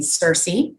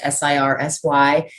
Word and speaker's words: Sirsy: When I was a little kid growing up, my little sister used to call me Circe Oh, as a pet name, and we spelled it phonetically because we were little kids, Sirsy.